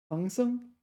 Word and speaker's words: 唐僧: This one, 唐僧. Sorry, I mispronounced it. 唐僧.